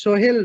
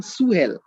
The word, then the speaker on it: Sohel: In West Bengal, in Bengali belt, I am saying my name is Sohail, but in Urdu belt, they don't have sha sound. They are saying Suhail.